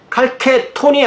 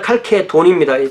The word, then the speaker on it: 칼케돈: 그래서 2년 후에 칼케돈에서 공의회를 열었는데 이때 아까 말한 그 마르키아누스 황제가 열었고 콘스탄티노폴리스 근처가 이 칼케돈이고 칼케톤이 아니라 칼케돈입니다.